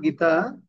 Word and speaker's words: গতঃ: ঠিক আছে, আর গতা, গতার পরে যদি বিসর্গ থাকলে তাহলে হ উচ্চারণ হবে, গতা।